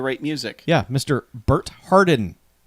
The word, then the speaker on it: Harden: guy trying to write music yeah mr bert hardin h-a-r-d-e-n bert hardin oh is that how it's spelled yes harden he's played by carmen santamaria